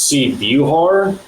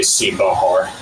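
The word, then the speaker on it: Sebahar: The correct pronunciation is C. Buhar. That's how my great-grandmother and grandmother wanted it to be pronounced. I guess that's the Croatian, Eastern European correct pronunciation. But in Arkansas, we're pretty bad with our pronunciation and our vowels, and we just say C. Bahar.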